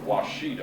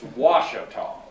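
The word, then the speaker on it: Ouachita: I noticed Dr. Critz said Washita a while ago, and that's not right. It's Washita.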